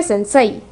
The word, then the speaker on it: sensei: Sense se escribe sensei, pero se pronuncia sense.